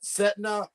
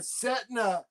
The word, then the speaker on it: Sedna: But her name is spelled SEDNA. See the DNA. And then Setna, in the part of